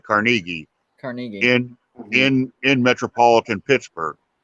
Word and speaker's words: Carnegie: creative writing at Carnegie, and that's how you pronounce it. It's not Carnegie; you pronounce it Carnegie.